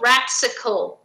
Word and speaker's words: Ratcicle: Actually, if you wanted to know how to pronounce that word, it's called Ratsicle. Ratsicle. Ratsicle. So that's why it was spelled like Ratsicle. Ratsicle? Ratsicle. Like popsicle.